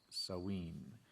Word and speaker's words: Samhain: And from the Standard Encyclopedia of Folklore, Mythology, and Legend, we read this information about Samain, okay, or pronounced Samhain.